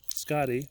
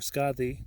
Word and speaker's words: Skadi: This one here stands for Skadi or Skadi, depending on your pronunciation.